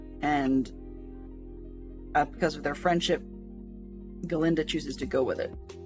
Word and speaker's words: Galinda: has done, she's the Galinda character. And no, I'm not exactly mispronouncing that. They take the Glinda, Glinda, from Wizard of Oz, and they make it be Galinda, which eventually gets changed to Glinda, simply because the Elphaba